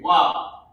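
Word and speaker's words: ו: This first character here is wa. It's wa. It's pronounced wa, and it means and.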